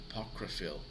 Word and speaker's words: apocryphal: a park apocryph uh sorry a park refill apocryphal so that is a connect correct pronunciation of apocryphal so these three words that